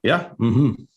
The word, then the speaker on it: Mmhmm: Mmhmm. Am I pronouncing it correctly? Yeah. Mmhmm.